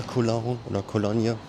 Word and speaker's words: Eau de Cologne: in this building: Farina Eau de Cologne "Cologne" with the French pronunciation ("Kolonnje"). The original pronunciation is French (not English).